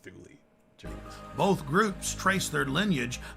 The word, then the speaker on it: Thule: It was pronounced Thule.